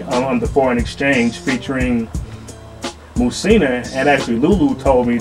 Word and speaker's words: Muhsinah: Musina, that's spelled Muhsinah.